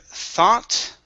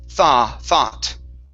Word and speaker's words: thought: Next is the word thought. Right here, instead of thought, it's an ah sound here. So it's thought.